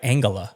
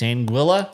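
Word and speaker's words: Anguilla: I've always said like Angala. Nope. It's Anguila.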